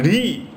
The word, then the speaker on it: hrih: syllable hrih this is re if you pronounce it hrih is pronounced as re so in late dhana